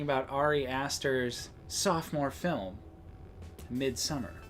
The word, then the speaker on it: Midsommar: Next up for a good movie we watched this year, we're talking about Ari Aster's sophomore film, Midsummer. Yeah, or Midsommar, as he pronounces it.